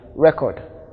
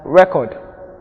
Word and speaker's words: record: Examples are contest, present, mandate, and record. Their verb form carries their stress on the second syllable, and note that the diacritic marks are indicated here to show us where the stress falls.